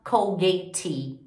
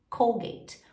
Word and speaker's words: Colgate: Então, por exemplo, a gente não fala Colgate, a gente fala Colgate. O último som é o som da letra T, ok?